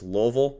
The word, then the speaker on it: Louisville: like no I'm sorry my dad my dad will kill me if I say it wrong so it's Louisville I'm sorry little sucks